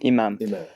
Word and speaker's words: Imam: Now, before we get too far, I should ask, you pronounce it Imam? Is that the Imam? Imam.